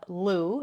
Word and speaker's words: Lugh: So, Lenaza is named after the god Louu. It's spelled L U G H, but the probably the best pronunciation we can get is Lou.